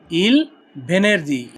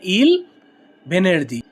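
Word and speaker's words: il venerdì: এর ইতালিয়ান কি হবে ইল ভেনেরদি ইল ভেনেরদি শুক্রবারের ইতালিয়ান কি ভেনেরদি ভেনেরদি মানে শুক্রবার আর যদি শুক্রবারে হয় সেই ক্ষেত্রে কি উচ্চারণ হবে ইল ভেনেরদি ইল ভেনেরদি অর্থ শুক্রবারে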